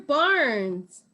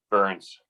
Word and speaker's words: Burns: yours and counting andrew barnes i think i mispronounced your name andrew can you get on and tell us how to pronounce it again i apologize hey there it's burns thank you you told